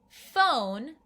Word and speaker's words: phone: is an interesting one ph phone your turn yeah here p and h come together to make the f sound like the letter f let's try this one